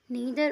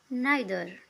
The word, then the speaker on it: neither: इसकी 2 प्रोनाउंसिएशन है और दोनों ही ठीक है, नीदर और नाइदर।